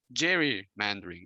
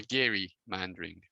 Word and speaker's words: gerrymandering: Sab Matsumoto: So that is an example of Jerry Mandarin or Gary Mandarin depending on how you want to pronounce it okay so and that's it for this section, and now I want you to.